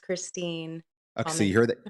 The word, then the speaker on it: Kristin: right it is Christine Christine is that correct Christine yes spelled like Kristen pronounced Christine okay so you heard that you heard that